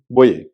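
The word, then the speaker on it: Boje: cricketer थे खेलते थे तो उनकी स्पेलिंग बी ओ जे ई था लेकिन बोजे नहीं बोए तो इस तरह से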